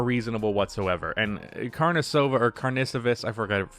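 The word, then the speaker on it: Karnišovas: And Carnicevus, I forgot, I think it's Carnicevus is how you pronounce it.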